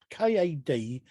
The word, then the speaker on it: Kadoyng: Jekyll and Sister Hyde in 1971, and Kadoyong. I don't know if that's how you pronounce it. It's Kadoyng. Kadoyng.